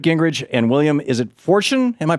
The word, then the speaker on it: Forstchen: Newt Gingrich and William, is it Forstchen? Am I pronouncing it right? William Forstchen. Forstchen.